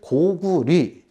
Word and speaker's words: 고구려: 잘못됐다 이것은 바꿔야 된다 즉 고구리 또는 고립이 뒤에 여자가 리 로 발음이 되게 된다는 그런 얘기입니다 이것이 역사적인 경황 에도